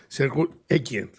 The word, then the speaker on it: Grzegorz Ekiert: And of course, special thanks to Director, Professor, I'm not sure about my good pronunciation, Sergio Ekian.